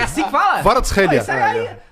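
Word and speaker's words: Kvaratskhelia: Varatskhelia.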